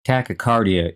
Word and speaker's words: tachycardia: called tachycardia which means excessively fast heart rate tachycardia is spelled t-a-c-h-y c-a-r-d-i-a and the other prefix i